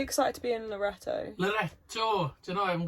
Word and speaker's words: Loreto: Loreto. Do you know, I haven't got it yet. Just rhymes with connector.